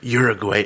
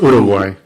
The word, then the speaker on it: Uruguay: Is it Uruguay or it's Uruguay? Okay, so you're pronouncing the G. Well, you have to pronounce it in a Spanish way.